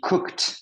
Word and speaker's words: cooked: She cooked. Donc, un T.